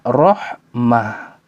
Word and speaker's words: رحمة: Ya, jadi kesimpulan kaidahnya, ketika di ujungnya, di akhir kata tersebut ditulis dengan ta marbuto, ketika dia berhenti maka suaranya ha rahmah, ni'mah. Ketika tulisannya dengan ta majruru